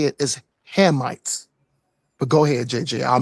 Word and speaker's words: Hamites: The correct way to say it is the correct way to say it is Hamites.